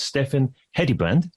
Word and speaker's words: Steffen Hedebrandt: your host of the B2B Uncovered show, and my guest today is Steffen Hedebrandt. Welcome, Steffen. Thank you, and pretty well pronounced pronunciation of a Danish name.